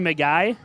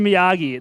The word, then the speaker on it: Miyagi: I don't actually know it's mr. McGee mr. Miyagi that's how you say it yeah so he trained